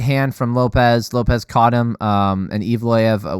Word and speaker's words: Lopes: Oh yeah, Bruce Buffer said Lopes. I don't think anybody else pronounced it like that, so I'm not sure if that's how he pronounces his name. Let me know in the comments below if I'm incorrect about that. I thought it was Lopez, because that's everybody else is saying.